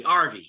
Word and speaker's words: Arvie: actually our movies right we pronounce it like if you're saying Harvey the name Harvey but Harvey RV RV there you go where are we some people are Harvey we're RV right Army got it